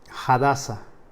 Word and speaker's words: Hadassah: canal hoy el mensaje que tenemos se llama hadassah en realidad se pronuncia así así es como se pronuncia bien